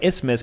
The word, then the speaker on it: isthmus: is pronounced synecdoche, and words with silent letters like isthmus can prove equally tough, though mainly because people are unaware they contain silent letters.